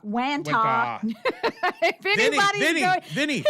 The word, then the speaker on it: Wantagh: Wagata. What? There's no G right there. Hold on. It's Wantagh. Wantagh.